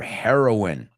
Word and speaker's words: heroine: the drug doesn't but they're pronounced the same heroine my heroines don't